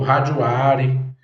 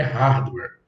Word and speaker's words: hardware: meu hardware o hardware do meu computador o rare né então a pronúncia correta é hardware se você quiser ouvir essa pronúncia no Google